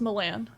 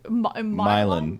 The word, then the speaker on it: Milan: Oh, is it pronounced Milan?